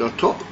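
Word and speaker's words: אתה: It's written with a top, but it doesn't in the original Kesiv. In the Mikra it doesn't have a hey, and it's, even though it's pronounced Ato, it's a difference between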